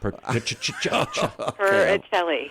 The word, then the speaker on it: Purcelli: All right, so is it Purcelli or what is it? Yeah, I think I pronounced it wrong. Well, it's Purcelli. Purcelli. A hard C.